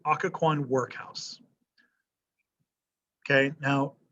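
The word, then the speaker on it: Occoquan: but wilson arrests them they're sent to the akka kwan akakuan workhouse let me spell it for you o c c o q u a n o c c o q u a n akkacon workhouse okay now it's a work they say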